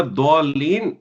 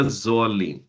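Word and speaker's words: الضالين: It's not fail मुजारे, ठीक है, it's फेल मुदारे, ठीक है, that's the correct pronunciation। वला दौलीन, not वला ज़ौलीन, okay?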